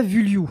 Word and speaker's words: Vullioud: Et alors Nicolas Vulliou, je le prononce bien? Je pense que t'es un des seuls qui a réussi à le prononcer correctement.